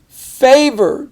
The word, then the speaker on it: favor: Favor. Do me a favor. And the A is long because it's at the end of the syllable there.